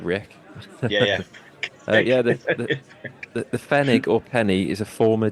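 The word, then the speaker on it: Pfennig: spelled it's bizarre spelling it's spelled p f n n i oh okay right spig must be silent P like like Rick yeah yeah yeah the fenig or penny is a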